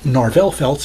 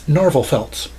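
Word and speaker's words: Narvel Felts: So yes, it is not Narvel Feltz, it's Narvel Feltz.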